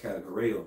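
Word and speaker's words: κατηγορέω: When we go into that word accuser, in the Greek, that word is pronounced kategoreo, mm-hmm, which goes into categorizing.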